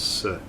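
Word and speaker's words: せ: It's a consonant followed by a vowel. Makes up a single syllable. You pronounce this as se.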